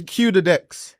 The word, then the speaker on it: Qdex: So it's Q the Dex.